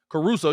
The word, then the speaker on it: Caruso: So this is why you have Alex Caruso, yeah, I said it right.